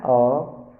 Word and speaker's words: hour: For example, an hour, an honor, an heir, an honest. In all these words, the first letters h are silent, so an is used before them.